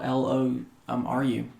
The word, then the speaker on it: Loru: It's spelled like four letters. Really simple. L O R U um Lom Ru Loru and Loru